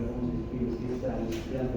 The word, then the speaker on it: trasplante: Busquen ahí en Google a ver cómo se escribe, si es trasplante o es trasplante. Yo estoy seguro que es sin N. Es trasplante, no es transplante.